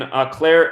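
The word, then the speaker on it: Eau Claire: the girl was found in Eclair acres that's how you pronounce it but noticing our most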